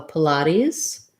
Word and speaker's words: Pilates: So Pilates has kind of unusual pronunciation because it's either a made-up word or it comes from another language. So we have second syllable stress with the ah sound. Our first syllable is very short, light I sound, Pilates. And then we make that T into a flap, sounds a little bit more like a D. And then the final S says a Z sound, Pilates.